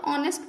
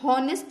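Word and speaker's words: honest: अब ये लेटर तो स्टार्ट है एच से, बट इसको हम लोग पढ़ते कैसे, इसको पढ़ेंगे तो ऑनेस्ट पढ़ेंगे, हॉनेस्ट नहीं पढ़ेंगे।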